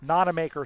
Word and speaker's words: Nonamaker: Nonamaker sends this one for, I just wanted to say Matthew Nonamaker's name up on the far side, which rhymes with John Wanamaker, which was a Philadelphia department store for many years.